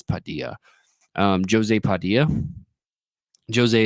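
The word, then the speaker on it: José: Padia um Jose Padia Jose is how you say it that's how they say it in the behind the scenes features um just really really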